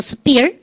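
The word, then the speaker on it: sphere: 오라뇨 ph 발음 f 발음 하시고 발음 갖다 붙여 스피어.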